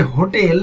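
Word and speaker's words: hotel: Example, he lives in এ হোটেল। হোটেল শব্দটির যে শুরুতে এইচ আছে, এই এইচ এর উচ্চারণ হচ্ছে বাংলা হ এর মতো, তাই আমরা এখানে আর্টিকেল এ বসাবো।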